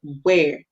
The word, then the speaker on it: where: But in this word, we are hearing the H is silent. The H, we do not hear it. So we hear W. And then E-R-E together says A. So we hear W, A, where.